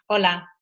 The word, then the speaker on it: hola: say hello in Spanish hola we don't pronounce HS in Spanish if it's morning and